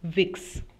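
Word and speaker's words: Vicks: have talk about it कि जो वी है उसका प्रोनंसिएशन एफ होता है इंग्लिश का एफ जो है that is the pronunciation that German we takes so the late letter we is pronounced as एफ ठीक है तो जो ब्रांड नेम है वो विक्स के जगह विड have sounded like an equivalent of the English F word तो जिसके वजह से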